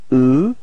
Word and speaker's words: eux: So masculine form is e. Alright, final X is not pronounced.